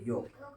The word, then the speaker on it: yolk: YOLK, योक। एल नहीं बोलते हैं, साइलेंट है।